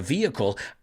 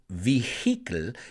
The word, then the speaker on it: vehicle: it out on a vehicle, I don't think I could. Y cuidado con la pronunciación. It's not vehicle, it's vehicle. Vehicle. The H is relatively silent.